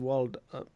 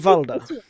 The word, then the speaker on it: Valda: No, I am hunting for one named Waldo. Sorry, that's not how you pronounce that name. I'm hunting for Waldo. No, I am hunting for one named Valda.